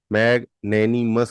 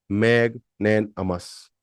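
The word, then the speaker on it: magnanimous: एम ओ यू एस मैग नेनी मस कहते हैं हम इसको बट इसका जो सही उच्चारण है वो है मैग नन अमस मैग नन मैग नेन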